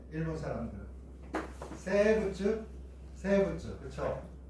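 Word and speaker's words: 生物: 일본 사람들 세부츠 그렇죠? 생물 봐봐 미음은 있잖아. 미음 아니면 거의 비읍으로 발음하고 여기 리을은 쯔로 발음하잖아. 그지?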